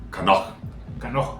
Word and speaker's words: Knoch: Y este era el científico alemán Gottfried Kanoch. Kanoch, como se pronuncia en alemán real.